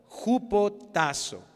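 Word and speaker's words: ὑποτάσσω: lo opuesto a rebeldía es la palabra en el griego ju potazo con jota ju potazo y así como lo pronuncia ahorita es una palabra compuesta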